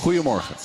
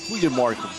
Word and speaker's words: goedemorgen: Goedemorgen. Goedemorgen. There you go. See? That was actually the right version of the G, too.